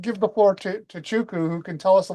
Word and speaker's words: Chuku: From Sherlock Holmes to Chuku. Uh, give me my name is a little bit um difficult here. So, I'm going to change my name to Chuku. It's pronounced Chuku. Make it a bit easier.